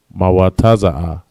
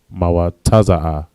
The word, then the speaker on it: mawataza'a: And that is mawataza'a. Mawataza'a, right? So I spelled just like it's pronounced. Ma, wa, taza, and a.